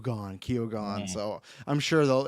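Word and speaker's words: Keoghan: of the emerald F the director saying it's Kone Kone so I'm sure they'll it's it's like uh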